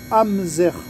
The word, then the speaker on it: Amzair: service une pompe à chaleur de la marque hamzer alors amser ça s'écrit AMZ a i r c'est une pompe